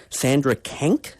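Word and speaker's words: Sandra Kanck: And Sandra Kank, am I pronouncing her name right?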